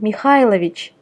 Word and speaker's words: Mikhailovich: Be careful though, there are some exceptions, and one of them is Mikhail in the first name and Mikhailovich in the patronymic. Here the stress jumps from I to A.